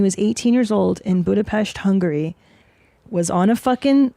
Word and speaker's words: Budapest: didn't even say it right. It's Budapest.